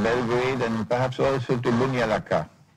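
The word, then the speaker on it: Banja Luka: and perhaps also to Bunyalaka. That's how it's pronounced, Bunyalaka, in Bosnia.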